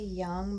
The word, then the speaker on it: Jung: read today a Carl Jung post and I know they say young but I don't I don't pronounce it like that because that's a j and people don't really